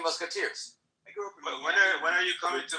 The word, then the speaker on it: Miami: I'm gonna be in, and by the way, it's pronounced Miami. I'm gonna be in Miami in the next. Today is my birthday. I'll be there. Oh yeah. If you're Latino, If you're Latino, you call it Miami.